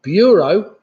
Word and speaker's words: bureau: That's a bureau, which of course rhymes with the euro.